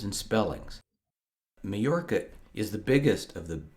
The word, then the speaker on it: Mallorca: spelled m-a-l-l-o-r-c-a it's pronounced majorca because in spanish the double l makes a y sound but from the spelling it looks to an english speaker like it could be pronounced melorka however that's not correct